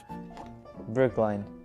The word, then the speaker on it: Brookline: It is pronounced Situate. Okay, nice. Brooklyn? I don't know. Brooklyn? Oh, Brooklyn. Brookline. Brookline.